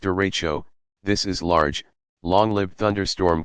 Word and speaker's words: derecho: a tornado struck you what is a derecha you pronounced derecho this is large long-lived